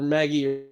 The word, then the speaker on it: Magi: Okay, so you have to keep in mind, Tempest, that the word Magi literally changes on pronunciation based on context.